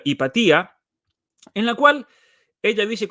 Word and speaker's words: Hypatia: Y en este artículo de Kathy Rudy, ella está escrito en inglés, obviamente, en una revista académica llamada Hypatia, podremos pronunciarla Hipatía, en la cual ella dice cómo los discursos